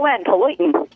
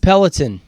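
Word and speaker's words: peloton: l o t o Pon potin is that how you pronounce it you know fantastic peltin peltin peltin peltin no peltin p l o t o n peltin peltin um competitive shooting oh this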